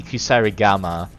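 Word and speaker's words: kusarigama: you know I really should be using the kusar Gama I'm so happy I can pronounce that correctly now because it's poison it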